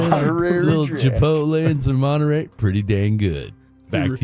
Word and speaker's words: Monterey: Am I saying it wrong? Is it Monterey? No, it's Monterey. Monterey. Oh, what did I say? Monterary. You added an extra R.